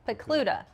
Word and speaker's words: Pokluda: Pokluda.